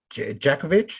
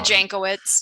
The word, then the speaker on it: Jankowicz: according to this woman nina djakovic is that how you pronounce it yeah nina jankowicz yeah yes yes listen